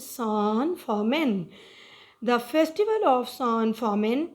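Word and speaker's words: San Fermín: This is the word, a Spanish word, and the pronunciation of it is San Fermin.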